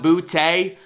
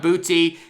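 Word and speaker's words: Boutte: diva receiver keyshawn booty i always thought it was keyshawn bootay but apparently the way they were pronouncing it it's keyshawn booty the former five-star receiver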